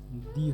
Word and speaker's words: the: টি এইচই টি এইচই এর পর যদি ভাওয়েল থাকে তাহলে এর উচ্চারণ কি হবে? দি হবে।